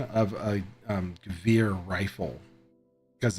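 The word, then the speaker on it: Gewehr: It's a Gvir, is how you pronounce it. I think is Gvir, and I always called it Gware.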